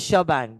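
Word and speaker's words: shebang: okay is this clear ah so it is shabang so pronounce sh bang is what basically you will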